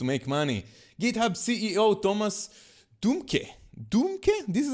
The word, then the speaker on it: Dohmke: GitHub CEO Thomas Dohmke, this is how you say his name, is going to step down.